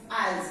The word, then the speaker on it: Isles: The primary identities of the people who inhabited the British Isles, S is silent, Isles, Isles होते हैं small islands, were ethnic.